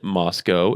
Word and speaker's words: Moscow: So if you don't know, Washington State University and University of Idaho in Moscow, it's pronounced Moscow. If you don't pronounce it Moscow, they will yell at you, are only 7 miles apart.